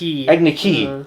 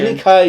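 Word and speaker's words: Agni Kai: Agniki. And I'm like, what is that? No. Oh yeah, they said Agniki, not Kai, which I feel like Kai is the correct pronunciation. Right, Agnikai is from the show at least.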